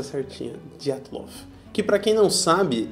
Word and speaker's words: Dyatlov: pronúncia certinha. Dyatlov.